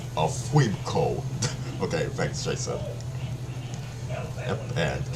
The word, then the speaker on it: Funko: Oh, Oh, so Funko is actually pronounced Funko.